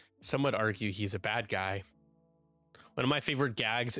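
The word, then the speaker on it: Badguy: It's like it's pronounced bad G so good.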